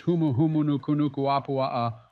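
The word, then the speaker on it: Humuhumunukunukuāpuaʻa: Come on, Barack, it's obviously pronounced as Humuhumunukunukuapua'a, or also known as the reef trigger fish.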